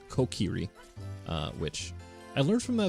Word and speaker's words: Kokiri: I see Fragment says the Kokiri, I always say it wrong, I say Kakiri, but it's Kokiri, which I learned from